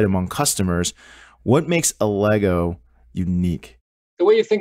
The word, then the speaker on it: Allegro: it started what is a lego am i pronouncing that right first of all a lego lego the name of the company is is